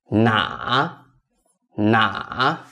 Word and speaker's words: 哪: Number two, which? 哪?哪? Remember, this is the third tone.